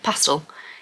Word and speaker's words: pastel: and more of a pastel pastel is the all-americans say pastel is how I should have said it then you've got